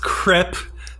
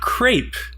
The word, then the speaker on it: crêpe: in my opinion the French word CREP it's pronounced CREP not crepe people seem to think they're being fashionable pronouncing